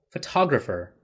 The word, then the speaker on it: photographer: an interesting thing here the stress a photograph is on the first syllable photographer is on the second and photogenic is on the third and let's go on